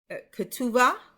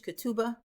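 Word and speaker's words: כתובה: wedding promise is uh kuva. I have it here with a b. It's really kubua. Kuva. And you might hear it in English, Katuba.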